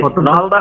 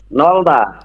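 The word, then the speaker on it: 넓다: না না না নাই নাই, নলদা হবে। নাই নাই। হবে নলদা। নলদা। বুঝছেন? জি, জি, বিয়োগ নাই। থাকলে এই প্রথমটার উচ্চারণ হবে না, আর বাকি যত জোড়া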